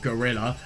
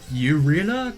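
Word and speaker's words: guerrilla: in the face of I mean gurilla I have no idea how to pronounce that it's obviously not gorilla but yeah gurilla Tac this I don't know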